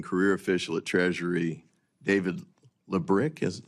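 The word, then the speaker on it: Lebryk: And I believe you were approached by the highest ranking career official at Treasury, David Lebrick. Am I pronouncing his name correctly? I believe it's Lebrick.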